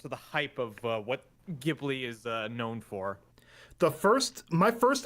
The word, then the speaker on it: Ghibli: I believe the actual pronunciation is Ghibli.